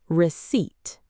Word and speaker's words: receipt: That p is silent. We say receipt.